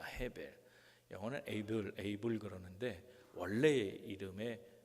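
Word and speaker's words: הֶבֶל: 자, 아벨이라는 이름이 뭔가 하면 아벨은 둘째인데 동생인데 아벨의 원래 그 히브리적 발음은 헤벨입니다. 헤벨. 영어는 에이블 그러는데 원래의 이름의 발음은 헤벨인데 이 헤벨이라는 말은 헛되다는 뜻입니다.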